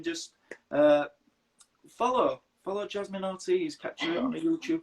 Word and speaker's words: Ortiz: over the day and you went yeah it's pronounced ortiz so now i'm saying jasmine jasmine yeah i'm